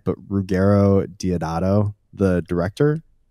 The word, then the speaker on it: Ruggero Deodato: But yeah, the main thing that I want to ask is and correct me if I'm not pronouncing his name right, but Ruggero Deodato, the director? Ruggero Deodato.